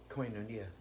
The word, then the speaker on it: Koinonia: And it says Jim trains at, is it pronounced Koinonia. say it again? Koinonia.